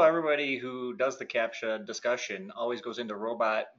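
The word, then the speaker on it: CAPTCHA: uh what is it capture support that's how it's pronounced um so as you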